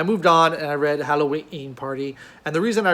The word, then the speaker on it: Hallowe'en: christie hercule project mystery halloween party and you'll notice i pronounced the apostrophe in halloween party as a glottal stop because why wouldn't you